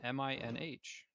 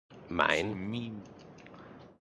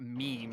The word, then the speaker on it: Minh: It's literally, this is how it's spelled: Ho Chi, CHI. That's Chi, 100%. There's no other way you can say that. And then MINH, Minh. Ho Chi Minh. Mine. So anyway, not meme.